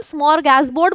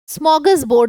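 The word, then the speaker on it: smorgasbord: अच्छा, इसको क्या हम स्मॉर गैस बोर्ड बोलेंगे? देखने में आपको यही लग रहा होगा, लेकिन जब हम इसको प्रोनाउंस करते हैं तो आर साइलेंट हो जाता है। स्मॉगस बोर्ड इसको बोला जाता है, स्मॉगस बोर्ड।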